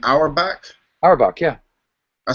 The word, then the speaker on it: Auerbach: Auerbach, yeah.